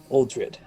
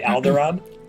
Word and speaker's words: Uldred: know when we will have our audience with aldrid no say it correctly what did you say alderaan yeah because i'm dumb and have star wars on the mind that's funny uh they